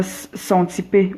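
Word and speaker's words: Xanthippe: D'avoir, ok, comment on prononce ça? Xantippe, voilà.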